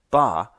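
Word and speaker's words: 八: for the number eight ba rhymes with the word for Prosperity fa it was such a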